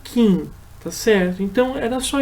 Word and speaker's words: King: a isso na verdade o sobrenome dele não se pronuncia King mas sim Quem então na realidade quando a gente se referir a ele a gente deve chamar esquecer esse G no final então fica só Stephen Kim Tá certo então era